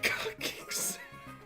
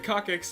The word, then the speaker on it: coccyx: We're cockies. You know that one's gonna catch me though, Joe. I can't. Okay. No, coccyx is actually how it's said, but yeah, it's gonna catch me.